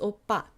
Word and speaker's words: 오빠: I know the OPPA is the common way that people spell it in English. It is not opa. It is definitely not opar. But it's opa. Opa.